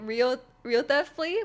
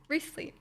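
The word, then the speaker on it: Wriothesley: it's pronounced and um I was calling in like real real theft please which is like how it's like written but it's actually recently recently which is you know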